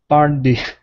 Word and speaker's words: party: instead of potty okay make sure that your tongue is hitting the top of your mouth par party party party uhhuh okay so nice uh nice and quick though you don't want to hang out at the top of your mouth saying party it's party so fun housewarming party